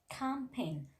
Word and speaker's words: campaign: In case of letter G, you know, when letter G appears just before the letter N, in that case we are not pronouncing letter G. So that's why we are telling silent G. Examples are here: campaign, foreign, sign, design.